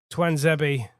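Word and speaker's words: Tuanzebe: But that was the best chance, and Twanzebe, there you go. Thank you, Guy Mowbray, for the pronunciation guide.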